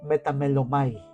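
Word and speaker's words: μεταμέλομαι: El primero es el verbo metamelomai, así es como se pronuncia, que indica un cambio de mentalidad, que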